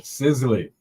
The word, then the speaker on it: Sizzli: Sizzli.